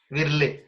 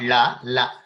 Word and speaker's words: ವಿರ್ಲೆ: For both yeah, virle. We also use the bet. Yeah, bet. Virle, not la, virle, right?